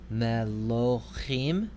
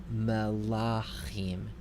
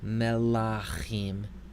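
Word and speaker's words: מְלָכִים: be a kametz hatuf, that would be melochim, or it could be a kametz and long a, melachim. So, if you look at that first division, melochim, you will recognize that that middle syllable would be a unstressed syllable that is consonant short vowel, and that is not allowable. Because we have an unstressed syllable that is consonant vowel, the vowel has to be long. So that means we prefer melachim.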